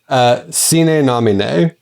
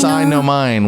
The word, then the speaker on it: Sine Nomine: it's pronounced sine nomine. Sine nomine. Which would be the, I guess, straight up like Latin pronunciation.